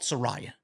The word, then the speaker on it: Saraya: How do you pronounce Saraya? I call it Saraya.